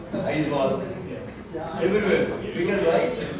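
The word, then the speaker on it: Aizawl: I saw many people pronounce Aizwal everywhere. We can write, nobody knows that AW stands for O.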